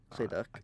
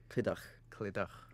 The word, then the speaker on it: Clydach: Yeah, Clydach. I can't pronounce it, you know. No, I'm not from Clydach. Clydach. Bit more. A bit. Brings a bit of phlegm, you know.